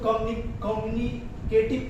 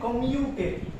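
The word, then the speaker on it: commutative: कम्यूटेटिव property तो कम्यूटेटिव property क्या होता है, बहुत लोग इसको कम्युनिकेटिव बोलते हैं, इसको बोलते हैं कम्यूटेटिव, कम्युनिकेटिव नहीं कम्यूटेटिव, it's pronunciations will be कम्यूटेटिव property.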